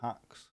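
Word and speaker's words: Haxe: a language called Hakes some people or it's primarily pronounced hacks I think but I pronounced it Hakes generally speaking that that's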